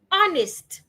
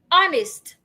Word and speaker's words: honest: Honest. The H is silent as well. Honest.